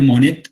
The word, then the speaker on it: Monet: directamente como discípulo directo Monet, Claude Monet, no Monet, sino Monet, porque así se pronuncia.